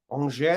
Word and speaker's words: Angers: So it says, we have made a written offer to Angers, or Angers, if you want pronunciation, estimated at about 25 million euros for Azzedine Unahi.